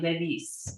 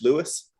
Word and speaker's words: Lewis: a v like levi well so when in france and in italy they can't say lewis the w they just can't pronounce it so they almost always call me ladies it's like how do you normally pronounce it in english louis louis louis okay yeah gotcha cool